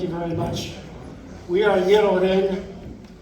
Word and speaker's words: Ngirchoureng: We are Ngirchoureng, pronounced that way, Ngirchoureng, and we play string band music in the